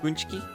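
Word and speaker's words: pączki: Well, it's pronounc Punchki.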